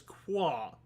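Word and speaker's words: Kua: He doesn't want to say old man, so he called him Qua. It's a shorthand. You call Basically. him K-U-A and pronounce it as Qua.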